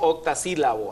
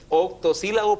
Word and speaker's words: octosílabo: cámara cuando decíamos que hay esa tendencia a decir octas silaba la sí oas la palabra de ocho Sílabo o octosílaba octosílabo o sea el verso octas silabo aquello que tenemos a tendencia pero el verso es octosílabo porque tiene ocho sílabas octosílabos un televidente nos